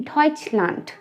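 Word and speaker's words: Deutschland: जो जर्मन्स होते हैं वो जर्मनी को जर्मनी नहीं कहते हैं, वो कहते हैं डॉइचलैंड, डॉइचलैंड।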